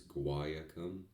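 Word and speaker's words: guaiacum: It's kind of like guacamole. It's guayacum. Guayacum.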